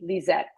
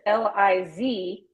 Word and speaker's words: Lissette: pronounce it like a Z, Lisette. Yes. Her name is Lizette.